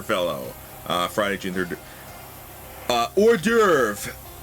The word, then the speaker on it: hors d'oeuvre: uh Friday Junior uh hors d'oeuvre which by the way that is in no way pronounced how it is spelled saffron crap on cracker